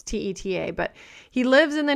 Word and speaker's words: Teta: There's a guy that I follow named Jade, and I'm not sure how to say his last name, Teta or Tita. It's Teta, but he lives in the nutrition health world,